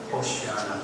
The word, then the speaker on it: 호산나: 그 다음에 호산나도 그리스 말로 번역하다 보니까 호산나가 됐고, 원래 히브리 말은 호슈야나였습니다.